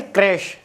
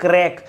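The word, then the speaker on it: crèche: एक होता है भाई क्रैश क्रैश कुछ लोग इसको क्रीच कुछ लोग क्रैक तो ये क्रेच प्रोनाउंस होता है शिशु ग्रह अ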